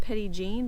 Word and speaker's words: Petit Jean: know but you know we're in the South and everybody calls it Petty Jean but I'm sure it's